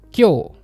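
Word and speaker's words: 今日: Hati-hati dengan yang warna pink. Cara bacanya enggak sama dengan yang tertulis di atas. Kyo itu kan cara baca khusus.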